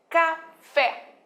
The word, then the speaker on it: café: escrita Claro e lógico se eu pronuncio café café você descobre Qual é a sílaba tônica Sim professor é o fé Isso eu não falo café eu falo café a tônica eu jogo lá no final Ok mas por eu